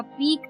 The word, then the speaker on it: pique: पहला वर्ड इस शाम का था पीक, जिसके स्पेलिंग PEA के नहीं थे, PEE के नहीं थे, जबकि PIQUE थे।